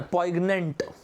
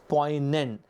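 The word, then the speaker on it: poignant: बहुत ही आसन है पोइग्नेंट नहीं एस शब्द का प्रनंसीएशन होता है एन या प्वाइनिनेंट अठेमैक्स बट का प्रोसेशन प्रनंसीएशन पोइग्नेंट नहीं होता है पॉयनेंट यूजुअली साइलेंट होता है तो पोइ एन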